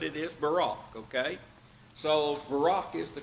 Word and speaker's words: Barak: that's mentioned here we used to call him barrack and then Barack Obama became president his name